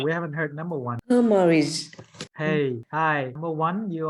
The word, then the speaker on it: hemorrhage: So when you say AG, you have to pronounce like a J.